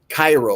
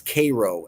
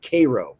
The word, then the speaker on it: Cairo: They don't like when people say Cairo, like Egypt. It's Cairo, Illinois. Cairo, not Cairo, Cairo.